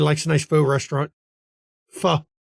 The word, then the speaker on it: pho: You've got a nice faux shop. You know, everybody likes a nice faux restaurant. Pho, as it's actually to pronounce it right, pho.